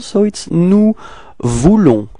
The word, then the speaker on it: nous voulons: Okay, so now for nous, first person of the plural, so it's nous voulons. Okay, final S is not pronounced.